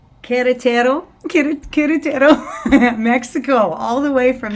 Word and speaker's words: Querétaro: Queretaro? Do I have that? Is that right? Am I saying that right? Almost, because the U is silent, so it's Querétaro. Queretaro.